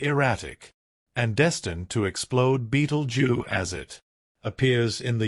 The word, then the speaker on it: Betelgeuse: could puzzle our Sky it is the star Beetle J commonly mispronounced as Scarab juice or Scarab Crush it's a red exceptionally colossal star on the